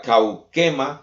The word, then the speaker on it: kauchema: La palabra gloriarnos, que se deriva de la palabra griega kaukema, se escribe kauchema, puede significar un regocijo valeroso, es decir, tener una confianza llena de adoración hacia el Señor.